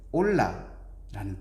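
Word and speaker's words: עולה: 뜻이에요 우리말로 그들에서 근데 히브리어 말로는 올라라는 뜻을 가지고 있대요 너무나도 놀라운 것은 하나님께이 재물을 태워서 그 향기를 올려 드린다의 그 우리나라 올라랑 비슷한 발음을 갖고 있어요 히브리어로 올라 기억하기 쉽죠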